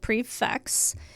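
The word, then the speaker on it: prix fixe: know I like it simply put a prefix menu pronounced prefix is a multi-course meal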